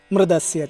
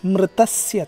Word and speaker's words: मृतस्य: मृदस्य च, मृदस्य च, it is मृतस्य च, मृतस्य च। ता should be pronounced ता, ता, ता, मृतस्य च, मृतस्य च।